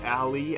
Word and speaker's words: ally: Actually, that's pronounced ally, as we have seen in the second case.